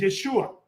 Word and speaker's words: Yeshua: de esta manera, pero en el idioma hebreo, en su forma más larga, Jesús es Yahé Joshua, que en la forma abreviada es Yeshua, que significa Yahvé Salvador o él es el que es es el Salvador.